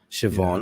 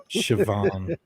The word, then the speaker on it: Siobhan: Siobhan, all the names that are spelled with BH, and they're like, "What? How is that a V?" Siobhan.